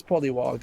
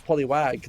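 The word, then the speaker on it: Polliwog: Oh yeah, it is Polywog. I thought it was Poliwag, like the Pokemon.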